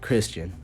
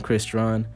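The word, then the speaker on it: Crystron: I call him Christian because it sounds funnier. It's spelled Christian, man, so I just say Christian. I know technically it's Christron, but you're going to get Christian from me.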